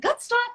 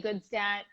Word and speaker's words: Gutstadt: Is it Goodstat? Is that how you say it? Yeah, there's so many ways to pronounce it, but we can say Goodstat.